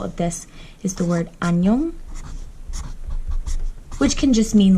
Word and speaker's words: 안녕: a good example because if the iung is at the end of the syllable, it's pronounced like an ng, which is how you get an. This doesn't sound like anything. Nyong, 안녕.